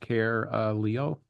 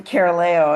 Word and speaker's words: Caroleo: name is pronounced Caroleo. I'll let introduce herself. Okay. She does it better than I do. you have the floor and welcome. Thank you. Caroleo. It rhymes with Galileo.